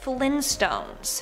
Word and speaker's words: Flintstones: as so no apparently it's the Flint stones with the hard t uh I refuse to